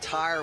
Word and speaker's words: Tyre: He and Tyre, we've been told, is the correct pronunciation.